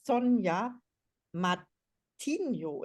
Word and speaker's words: Sonia Matinho: This is Caroline speaking, and today's interview guest is Sonia Matinho.